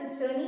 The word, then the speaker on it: cisternae: इसकी स्पेलिंग होती है CISTERNAE, इसे आप सिस्टर्नी कहते हो।